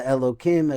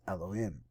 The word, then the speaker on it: Elohim: The Elokim Acherim, because actually I'm told that we're talking about idolatry, you always pronounce this Elohim.